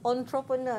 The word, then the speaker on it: entrepreneur: now the pronunciation of entrepreneur is quite. Difficult to be yes, because it's not as the spelling, it's on. If you look at the spelling, it's E-N, right? But we pronounce it as entrepreneur.